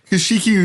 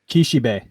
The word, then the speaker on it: Kishibe: um yes today we are covering Theus spoke kashiki Rohan and Kiki who's that am I pronouncing his name crap Kishi B thank you B it's not a k it's